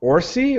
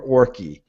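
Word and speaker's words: Orci: like too cartoonish plus orsi rhymes with horsey and yes and we're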